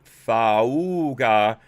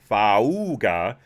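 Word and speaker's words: Faauuga: And they want to recall School Board President Gabriela Lopez, Vice President Fauga Moliga, that's how it's spelled, F-A-A-U-U-G-A, Fauga Moliga, and Commissioner Allison Collins.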